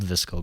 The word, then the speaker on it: VSCO: Hashtag Visco Girls. What? No. You know what a Visco Girl is? I do. It's spelled VSCO, right?